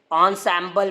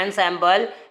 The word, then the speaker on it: ensemble: लोग क्या प्रोनाउंस किए, ऑनसैम्बल बोलते हैं। लिखते हैं एनसैम्बल लेकिन पढ़ते हैं ऑनसैम्बल।